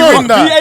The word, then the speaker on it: Rinder: It's actually Rinder.